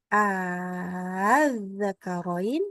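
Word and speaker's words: ءآلذَّكَرَيْنِ: Membaca A-nya di sini, jangan az-zakaroini. Ini bukan begitu bacanya. Lihat tandanya ada benderanya. Dan ini bacanya bukan 4 harokat. Ini 6 harokat.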